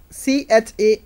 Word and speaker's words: character: I take another word c-h-a-r-a-c-t-e-r c-h-a-r-a-c-t-e-r the pronunciation of that word is character koi is produced sound is but the letters to represent this sound are C and H um the sound is